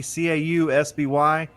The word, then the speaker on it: Causby: My name is Cosby, Causby. It sounds like Bill Cosby, but I'm not kin to him at all.